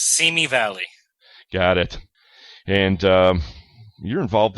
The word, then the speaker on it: Simi Valley: Now, you're speaking with us today from Simi Valley, or is it Simi Valley? How do they pronounce it? It's Simi Valley.